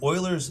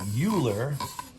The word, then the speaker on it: Euler: This is called an Euler's disc. It looks like Euler, but it's pronounced Euler.